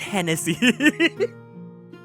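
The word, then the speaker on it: Genasi: I know Janasi because in the other podcast I was listening to the Janasi player was like, "Oh, it's pronounced Hennessy.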